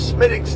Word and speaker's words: Smithwick's: If you want to call it for Smithwick's, just pronounce Smithwick's. The W is silent, but it doesn't matter.